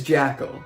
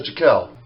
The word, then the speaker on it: Jack L: thing he does is pronounce my name wrong even though I say it two seconds later this is jackal hi my name is Jack L that's not cut by